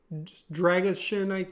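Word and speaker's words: Drăgușin: And, of course, with, the very lack of center back depth, they got Rasmus Dragishin, I believe is the official pronunciation.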